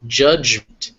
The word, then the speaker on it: judgment: frightened next we have judgment here the J and the DG are making the same sound so J judgment height and eight are